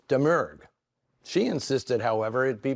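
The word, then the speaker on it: Domergue: her the mystery has always been how to pronounce her name which I long thought was dgu only to learn that in the Creole culture she comes from it's deur she insisted however it'd be pronounced demure one thing is for sure she could top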